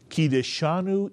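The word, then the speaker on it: קידשנו: And there you see the three syllables of this word, ki, disha, nu. Let's put the word together, and can you pronounce this entire word? Kideshanu is correct.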